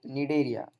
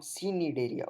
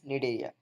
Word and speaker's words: Cnidaria: Okay, यहाँ पे सी silent है, so we have to pronunciate like Nidaria, not Cnidaria. Okay, it is the pronunciation of this phylum is Nidaria, and Nidaria.